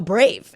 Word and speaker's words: Brave: But no, Brave.